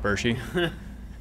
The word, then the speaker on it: Bertschy: living dangerously in the backyard with mr zach burshy yeah properly pronounced yes you did you got it right